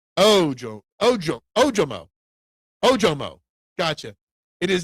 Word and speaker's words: Ojomo: First syllable has the greatest enunciation. Ojomo.